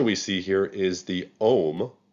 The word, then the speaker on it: Om: god the picture we see here is the om it's spelled o-m or a-u-m and that's the symbol